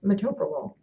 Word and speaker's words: metoprolol: In this instance, this drug is pronounced metoprolol.